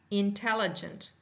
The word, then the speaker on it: intelligent: Intelligent. Intelligent. Intelligent. Intelligent. Listen for the vowel sounds. Intelligent. Intelligent. Intelligent. Intelligent. Four. Right. Let's try jaw drops. Inalent. Inalent. Inalent. Four drops. So we have four syllables.